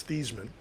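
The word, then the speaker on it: Theismann: know is that his the actual pronunciation of his name is not Thyman, it's Thesman. Yeah. Uh but it was changed to Thyman by the marketing team at Notre Dame to rhyme with Heisman.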